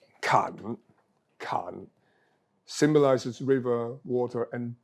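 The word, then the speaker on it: 坎: symbolizes a river flowing through it this is pronounced can can symbolizes river water and danger most importantly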